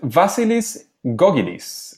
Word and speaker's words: Vasilis Gkogkidis: And today we are with Vasilis Gkogkidis.